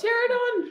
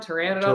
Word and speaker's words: Pteranodon: Pterodon. I never say Pterodon. Pteranodon. I never say it right.